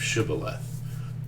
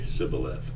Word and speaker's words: shibboleth: was this idea of shibboleth. And they would pronounce it, they wouldn't say the sh part of it, they would just say sibboleth.